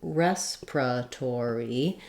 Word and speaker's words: respiratory: of the syllables but you will also hear native speakers reduce it to respiratory down to four syllables from five this is typical in Words with multiple syllables and schwas that sometimes instead of respira we tend to do respray we do this in some other words as well so you can combine these two syllables Pura and become just pra because that that Ura is a short unstressed part of the word in both cases in